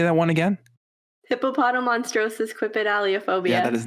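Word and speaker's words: Hippopotomonstrosesquippedaliophobia: How do you pronounce it? Hippopotomonstrosis quipedaliophobia.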